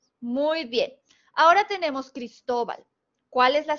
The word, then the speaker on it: Cristóbal: es grave muy bien porque tiene la sílaba tónica en la penúltima sílaba es todo entonces la